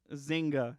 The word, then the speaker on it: Zynga: Zynga is how you say that.